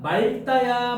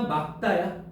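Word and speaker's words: 맑다: 그러니까 말다 했을 때 막다 했을 때 자 말다라고 하면 돼 막다라고 해야 돼. 막다라고 하는 게 올바른 발음이라는 거야.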